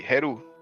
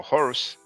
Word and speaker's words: Heru: So that would be Heru, her son, or Horus, like the Greeks will pronounce.